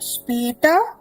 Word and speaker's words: später: Second one is bis später. Bis später. Yeah? Bis. Now the word bis. B-I-S. It is also a preposition in German language. Okay? Bis means till. Till. And meaning of the word später.